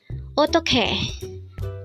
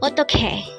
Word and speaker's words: 어떡해: This is pronounced as a 3-syllable word. The first syllable is o, second syllable is tok, and third syllable is he. Pronounce it with me. 어떡해, 어떡해.